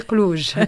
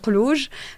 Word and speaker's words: Klouj: Donc effectivement Klouj, donc je suis Klouj بالعربي Klouj. Ça s'écrit avec un K mais Klouj.